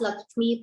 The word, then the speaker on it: LXME: And I think she's also now the founder of LXME, very interestingly spelled LXME, Lakshmi, but pronounced Lakshmi, possibly India's first personal finance app for women.